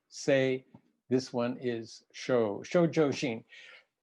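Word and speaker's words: 清: The character for pure can be pronounced or read in several different ways. Mine is sei, this one is Shoujo Shin.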